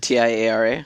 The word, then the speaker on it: Tiara: do I say that one there is it TI A R A yeah Tiara Tiara yeah Tiara the thing you put on your head all right sorry everybody hi my name is Tiara de the girl who contacted you on that's